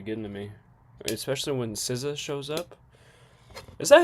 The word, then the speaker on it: SZA: Dizzy? That's how you say her name? Is Dizzy? Oh, SZA.